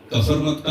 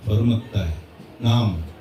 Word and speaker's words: Kfarmatta: Mispronounce कर रहे थे, तो उसने करेक्ट किया, कफरमत्ता नहीं है, फरमत्ता है नाम।